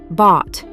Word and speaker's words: bought: They all have that same deep vowel sound followed by a silent GH and a sharp T. Thought, bought, caught, brought.